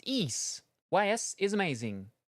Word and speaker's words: Ys: It's pronounced Ease. YS is amazing. Ease.